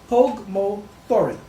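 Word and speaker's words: Póg mo thóin: And it's pronounced Pog Mo Thorin. Or Thoin. Meaning?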